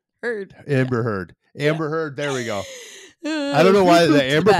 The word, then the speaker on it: Heard: Rhymes with turd. Turd? Bird. Heard. Heard.